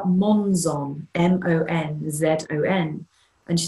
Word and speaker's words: Monzon: And her surname is spelled Monzon, M-O-N-Z-O-N. And she said, well, it's a different spelling, but it has the same sound.